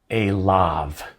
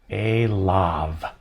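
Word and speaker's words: אֵלָיו: very important form here a lav this is l plus by hymn so to him is pronounced a love and so somewhat counterintuitive counter-intuitively you do not pronounce this yod it's silent in pronunciation so aleph sarah then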